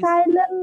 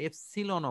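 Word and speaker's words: epsilon: কেউ কেউ এটাকে শর্টকাটে এপসিলনও বলে, এপসিলন আবার এপসিলন এপসিলন এপসাইলন, এই দুই ধরনের উচ্চারণই আমরা স্যারদের মুখ থেকে পেয়েছি।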